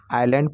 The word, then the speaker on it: isle: हम आइसलैंड नहीं पढ़ेंगे, आइलैंड पढ़ेंगे। आइलैंड, एस को साइलेंट रखते हैं। उसी तरह से ISLE, तो यहाँ पर एस साइलेंट रहेगा तो इसको आइल पढ़ेंगे।